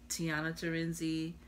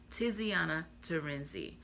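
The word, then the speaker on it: Tiziana Terenzi: is supposed to do a um let me pronounce her name right ter Iana terenzi Tiana terenzi um the C I don't know I've never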